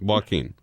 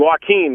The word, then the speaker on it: Joaquin: his first name I'm walking you Joaquin that's it that's how you say it and yeah he's watching